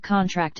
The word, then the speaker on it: contract: For instance, the word contract is stressed on the first syllable when used as a noun, but on the last syllable for most meanings when used as a verb.